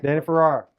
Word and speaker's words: Danny Farrar: Listeners, Danny Farrar. Right? Did I say it right? You said it right. Danny Farrar.